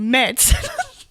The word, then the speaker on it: Mads: And then the next group had basically gone up already, and the first guy to introduce himself was also called fucking Meds. And it's spelled like Mads, M-A-D-S.